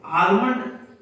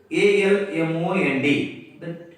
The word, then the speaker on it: almond: Suppose almond, ALMOND, the student should pronounce what almond, no, almond, almond.